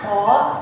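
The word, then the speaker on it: 子: Nah, kalau semisal dia berdiri sendiri tuh dibacanya ko, jadi seperti ini.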